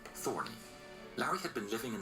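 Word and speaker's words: Thorne: He changed his name to Lauri Thorn, although he preferred the hybrid pronunciation Thorny.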